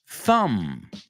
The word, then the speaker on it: thumb: Thumb, thumb, tu pulgar. Thumb. Tomb, tumba. Tomb, right? These are just some common words. that have that silent B in English.